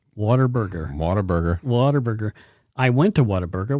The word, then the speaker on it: Whataburger: And people mispronounce it as Waterburger. Waterburger. Whataburger.